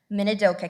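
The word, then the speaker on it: Minidoka: We had people from state communications, Nampa, Hawaii County, Minadoka County, which yes, I pronounced Minadoka right.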